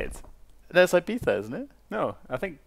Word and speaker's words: Ibiza: That's like the Ibiza thing.